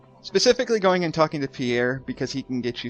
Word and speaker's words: Pierre: I always call him Perry. He's around here I somewhere. always called him Perry. I think it's pronounced Pierre, but I could be completely Isn't wrong.